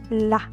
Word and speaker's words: la: Then we have la, la. Your mouth should be open, la, la.